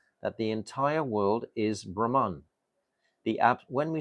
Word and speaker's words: Brahma: differentiate between Lord Brahma Lord Brahma is has a long a I explained this the